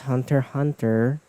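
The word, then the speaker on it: Hunter × Hunter: You know what I love about this is I'm using the um Hunter Hunter and it's pronounced it's pronounced Hunter Hunter because the X is silent but it's I'm using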